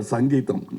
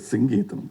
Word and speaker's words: Singeetam: For once and all in Kodambakkam, there was always a confusion how to pronounce his name. And the Tamil Nadu used to get very upset because they Mr. Sangeetam. No, it is Singeetam, please.